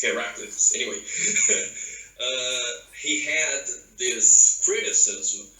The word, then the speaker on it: Heraclitus: Americans say Heraclitus, but for me it's Heraclitus.